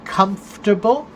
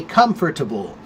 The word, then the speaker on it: comfortable: Right, so there are 2 pronunciations of the word comfortable. You can say comfortable, which is comfortable, 3 syllables, or you can say comfortable.